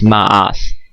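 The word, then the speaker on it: מאס: the other thing is they tend to interchange the sometimes with the c so that's why it's pronounced is but the transliteration here is ma'ak okay but it's pronounced with s sound okay so um mock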